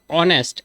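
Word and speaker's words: honest: ইজ ডশ allergy নষ্ট করল নাক ইজ ডশব অনেস্ট এইচ এস এন কেন এই সাইলেন্ট উচ্চারণ হইছে কিতা অনেস্ট ওই কিতা হইব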